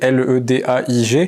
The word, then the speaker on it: Ledaig: Ledaig, ça s'écrit Ledaig, L-E-D-A-I-G, et ça se prononce Ledaig.